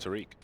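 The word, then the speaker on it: Tarik: Trivia, his name is actually pronounced Tariq. Tariq Salik.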